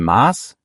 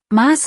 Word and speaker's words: Maß: Ich sag dir noch kurz was zur Aussprache, Maß hat ein langes A.